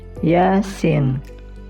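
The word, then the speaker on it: يس: Selanjutnya yaitu ya dan sin. Yasin. Jadi pada surah Yasin. Jadi ya dua harakat dan sin harakat. Cara membacanya Yasin, Yasin.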